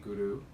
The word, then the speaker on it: Guru: So the sounds are Guru, Guru, Wahe Guru, Guru Ram Das Guru. And when you pronounce the word Guru, you want to pronounce it with the R rolled a little bit.